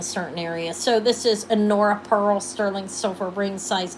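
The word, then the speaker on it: Honora: It's spelled H O N O R A, but the H is in uh is uh solid, but it is an Anora pearl sterling silver triple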